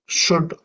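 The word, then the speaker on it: should: அதுபோல சுட் வுட் walk இதுல வந்து எல் சைலெண்டா இருக்கும்.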